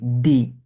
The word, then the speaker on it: d: বি এবং তারপরটা কি দি দরশিকা দি এর মত হবে এটা কি ডি বলা যাবে না কি বলতে হবে আমাদেরকে খেয়াল করুন এটা হবে দি যেমন দুয়ে দুয়ে আমরা